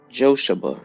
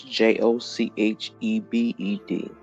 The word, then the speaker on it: Jochebed: Jochebed is the way the name is pronounced. It is Jochebed.